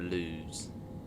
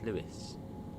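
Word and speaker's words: Lewes: falma another funny one's Lewis people call it lose no it's Lewis lovely and the other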